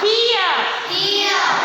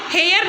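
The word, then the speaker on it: hear: जैसे पी, पी ई ए, पी, T, knee, नियर, हियर। ये आप लोग हेयर नहीं बोलना, इसको ई की साउंड आएगी हियर।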